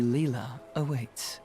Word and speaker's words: Lila: I think it's our only option is to talk to Leela.